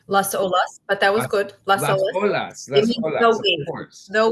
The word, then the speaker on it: Las Olas: she is the co-director of the Chabad of lasalles Florida I think I said that right I said it right Las Olas but that was good no wave exactly and